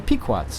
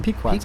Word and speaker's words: Pequots: The Pequots, Chip. Ah, the Pequots. I've Pequot. told you Yeah, that yeah, before that's because they rhyme with pecans.